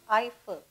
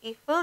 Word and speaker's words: Eiffel: paris the eiffel tower it's pronounced as eiffel don't say evil the eiffel tower is